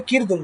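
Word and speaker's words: قرد: কিরদুন হচ্ছে দেখেন কিরদুন উচ্চারণ হবে কিরদুন।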